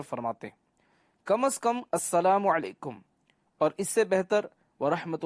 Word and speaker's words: السلام علیکم: Number 11، سلام اور جواب سلام کا درست تلفظ یاد فرما لیجئے۔ پہلے میں کہتا ہوں، آپ سن کر دہرائیے، السلام علیکم، اب پہلے میں جواب دیتا ہوں، پھر آپ